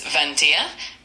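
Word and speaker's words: vingt et un: Of course, number 21 in French is Vantia and it's spelled V I N G T E T T U N.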